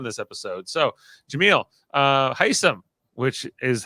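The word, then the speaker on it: Hisam: we got on this episode so Jamil uh heisam which is how you say his name is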